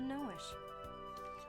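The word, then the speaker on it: Noishe: What happened to Noish?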